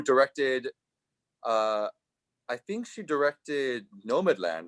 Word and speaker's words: Nomadland: How do you pronounce it? Is it Nomadland? yeah, it's Nomadland.